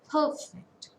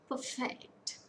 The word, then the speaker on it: perfect: If we take a word, for example, if we take a word called perfect, if it is a noun, it should be pronounced as perfect. And for a verb, perfect, perfect, noun, perfect, verb, perfect, noun, perfect, verb.